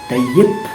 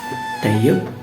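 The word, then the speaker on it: Tayyip: है रेसिप तय्यिप Erdogan, लेकिन जो सी है वो य के तौर पे यूज़ होता है और पी है वो ब के तौर पे यूज़ होता है और जी साइलेंट होता है, लिहाजा रेसिप नहीं रजब तय्यब अर्दोगान।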